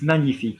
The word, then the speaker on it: magnifique: It's not magnifique, it's magnifique, yes? The GN, like vigne, it's a soft in French.